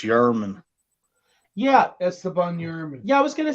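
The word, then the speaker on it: Germán: against is it yerman it's spelled German but I I think it's pronounced yerman yeah I was going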